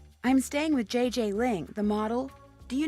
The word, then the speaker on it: Gigi: En français, you pronounce the G like J and the J like G. She may very well be JJ in America, but in France, she is Gigi.